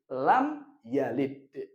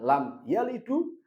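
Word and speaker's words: لم يلد: Berarti lam yalid bacanya. Bukan lam yalidu atau lam yalida, tapi lam yalid sukun.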